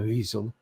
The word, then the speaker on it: Wiesel: humanities at Boston University which created the Elie weasel or VISA we said weasel we pronounce the W everywhere I've looked it was pronounced as a v a soft v a weasel uh he was uh he created the Boston